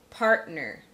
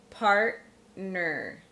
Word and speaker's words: partner: a true T, is when a T ends a syllable and the next syllable begins with a consonant and is unstressed. So for instance, partner, partner, settler, settler, Batman, Batman, stuntman, stuntman.